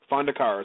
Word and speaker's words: Fondacaro: pronounced that right, and Fondacaro. Women with Blood, what's that? Fondacaro is how you pronounce it. Okay, well, we got it right then. Yeah, you got it.